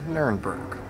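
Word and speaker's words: Nürnberg: than the english version in english we say nuremberg here in german j nurenberg it's like cologne or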